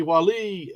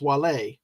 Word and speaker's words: Wale: So it's because I've only heard it as the MC Wally, but it's Wale.